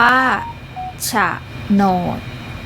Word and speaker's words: โฉนด: อ่าน ว่า หวง แหน โฉนด อ่าน ว่า ฉะโนด สวรรคต อ่าน ว่า สวรรคต